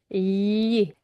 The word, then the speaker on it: gli: Careful with this pronunciation is gli.